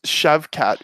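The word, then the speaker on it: Shavkat: mccove novel or whatever yeah how do you pronounce that right yeah it's shav cat but he's like him and kazmat are like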